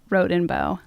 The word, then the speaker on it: Rodenbough: Well, I can put all the rumors to rest right now and tell everyone that it's pronounced Rodenbough.